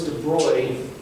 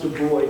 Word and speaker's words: de Broglie: second but what happens is this guy lewis de bruyne and i know it's spelled brutally it's pronounced de bruy don't look like an idiot okay it's de